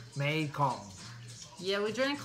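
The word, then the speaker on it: Mekhong: meikon thanks noy for telling us how to pronounce it mae kong yeah we drank like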